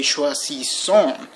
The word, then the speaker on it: choisissons: You have to say choisissons, but don't pronounce the final S. The final S is never pronounced.